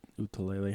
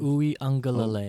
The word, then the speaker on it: Uiagalelei: Utalele, how do you say it? Uiagalelei. Uiagalelei. There we go.